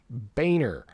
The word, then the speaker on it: Boehner: was a weird moment John Boehner that's that's pronounced Boehner John Boehner was getting